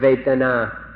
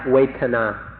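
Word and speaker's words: vedanā: So we'd like to request, we implore you in fact to remember this word vetana. Vetana or in Thai Waitana. It's spelled in Roman letters V E D A N A.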